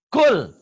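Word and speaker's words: قل: Ini kan dibaca kul. Kenapa jelas idhar? Karena lam matinya ketemu ha. Ini kalau ketemu lam dan ro dibacanya idgham melebur.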